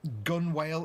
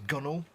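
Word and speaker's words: gunwale: are like words where you pronounce them like they're smooth like gun whale is gunnel things like that and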